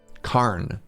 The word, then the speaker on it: cairn: Karn. So the I is silent.